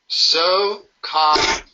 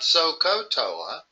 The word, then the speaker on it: SOHCAHTOA: And it's important to pronounce that ka instead of ko. In other words, it's not Sohcahtoa, because if you pronounced it like that, you might stick an O in there.